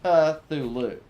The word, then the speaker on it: Cthulhu: is not silent it's Cthulhu so yeah the t is Silent not the C uh Legion although I guess this I guess the T isn't silent e no actually nothing is silent in Cthulhu yeah you're right nothing